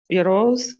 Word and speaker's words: euro: Milk, milk costs 2 euros a liter. Все, milk costs 2 euros. Вот это euro, euros. Оно произносится так. Euro. Euros. Ну, можно, на самом деле, господи, так все поймут.